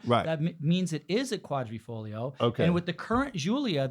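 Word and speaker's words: Quadrifoglio: quadri is for okay and folio is leaf quadri folio yeah okay got it now I know how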